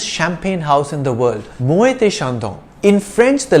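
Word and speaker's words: Moët & Chandon: business one more thing e.t pronounced a is the french word for and hence muay thai is the proper french way of saying it however you may also choose to call it moet and shandong by the way this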